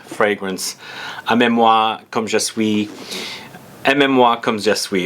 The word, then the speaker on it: Aimez-Moi Comme Je Suis: Aimez-Moi Comme Je Suis is how you pronounce it.